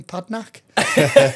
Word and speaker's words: Padraic: Padraic. So it's spelt Padraic, pronounced Padraic.